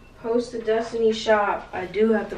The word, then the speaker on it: Destinee: Yeah, go follow my brand page, Destinee, that's how you pronounce it with the two E's, Destinee shop.